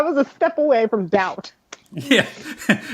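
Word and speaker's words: D=OUT: to like understand that, one, it's pronounced doubt, and two, realize how stupid I was for mentally like reading it as D equals sign out like every time, or D equals out.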